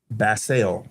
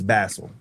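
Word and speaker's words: Basell: And I did some research on how to pronounce this company name. So it's Lionel Ba Bassel. Yes. It's not Basel. It's Bassel.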